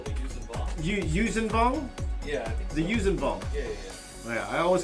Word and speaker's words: Yuuzhan: I did do an issue of Star Wars Tales with the Vushis Vong. Is that how you say it, Mark? Oh, the Yuuzhan Yuuzhan? Yeah. The Yuuzhan.